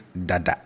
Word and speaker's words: dada: We have this dada, which means already, and it's dada, dada. So the tone is down, right? Dada, dada on both syllables, dada. And I'm stressing on this because if you raise the tone, you'll be saying something completely different.